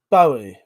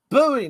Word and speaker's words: Bowie: of myself there no buoy knife is what Americans say that's wrong um Bo knife 71 said right no ignore me space cadet 71% are right Bowie knife Bowie knife yes Bowie knife is right no I'm just I'm